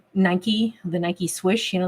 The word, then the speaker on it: Nike: Um even the word like Nike, the Nike swish, you know, that means victory. It's is pronounced Niki in in Greek.